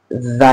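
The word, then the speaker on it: زاي: इन्हें हम पढ़ेंगे जा, ज, ज, मक्खी किस तरह बज़ करती है, हाँ, मक्खी की जो भिनभिनाहट, जा, ठीक है।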